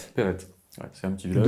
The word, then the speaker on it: Perret: Perrette. Ouais, c'est un petit village. De TE ? Non, P-E-R-E-T. D'accord, on prononce Perrette.